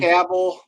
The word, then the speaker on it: Cavill: Cavill.